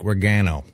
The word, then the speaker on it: Regano: Tell us about Frank Regano, if I'm pronouncing that correctly. Yeah, you are. Regano, whichever you want to say.